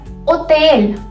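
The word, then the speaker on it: hotel: ठीक है, और ओतेल, ओतेल.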